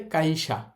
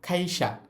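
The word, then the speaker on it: 会社: তাহলে নরমালি পড়লে কাইশা। কিন্তু যেহেতু ওই কাটা শব্দের শুরুতে আছে ওইটাকে আমরা খ এর মত উচ্চারণ করব। খাইসা। খাইসা। খাইসা মানে হচ্ছে কোম্পানি। এখন আপনি যদি কাইশা বলেন সেটা কিন্তু ভুল হবে না। ম্যাক্সিমাম মানুষ এইভাবেই বলে।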